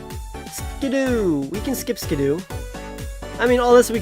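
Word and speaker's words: Skiddo: do we can skip skidoo I mean all this we can say you pronounce it ski-doo that's apparently how you pronounce can do makes no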